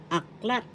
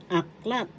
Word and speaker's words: aklat: in English tagalog word aklat aklat this means book in English first syllable act syllable The accent is in the second syllable.